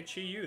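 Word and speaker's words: Chi-Yu: I think, yeah, okay, Chi Yu, there you go.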